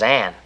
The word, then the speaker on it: Anne: no that see that that says anne this e is silent just pretend it's not even there it's silent why well i don't know why it's just the way it is see look if if